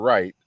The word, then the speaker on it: Wright: author himm right here Mr Wright that rhymes with white right he's giving his